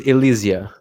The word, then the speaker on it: Ilysia: Right, so pronunciation is Ilysia.